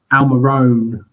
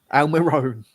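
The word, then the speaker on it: Almirón: Getting a bit annoyed with the commentator pronouncing Almiron's name wrong. Almiron, is it? Is that what you're saying? Almiron. Almiron.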